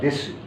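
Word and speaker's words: です: আমরা সু এখানে লিখবো সু লেখার সময় সু লিখবো আমরা দেশু কিন্তু বলার সময় দেশু না বলে দেশ বলবো দেশু বললে যে ভুল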